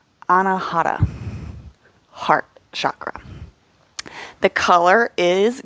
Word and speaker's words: Anahata: In Sanskrit, this is pronounced Anahata, heart chakra.